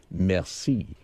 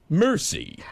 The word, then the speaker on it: merci: at it, you say merci. But when the way Brad pronounces it, it's really embarrassing. He gets it and he gets the bill and looks at it and says, mercy.